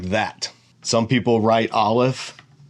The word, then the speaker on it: Aleph: is an O vowel, then you'll pronounce the Aleph as O. If it's an A vowel, you'll pronounce the Aleph as A. If it's an I vowel, you'll pronounce the Aleph as I. So it's right off the bat, it shows you how different Hebrew is from most modern Romance languages. It's the silent letter.